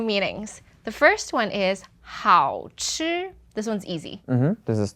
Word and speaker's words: 好吃: One was 好吃 is tasty, and then the other one 好吃. Yeah, the second one was 4th tone.